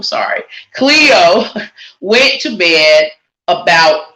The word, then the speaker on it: Cleo: her name wrong sorry cleo went to bed about 8 p.m and forgive me i've been saying chloe cleo went to bed about 8